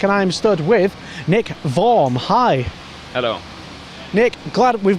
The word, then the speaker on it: Worm: that it was Nick form I'm not warm as everybody said yeah it's correct it's the German pronunciation of the name there's a city called